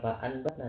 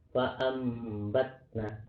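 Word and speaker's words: فَأَنْبَتْنَا: Tapi bukannya membalik, bukan fa'anbatna, tapi fa'ambatna. Ya, arti membacanya, cara membacanya bagaimana? Seperti ini. Bunyi nun sukun atau tanwin berubah menjadi huruf mim ya, dibaca samar dan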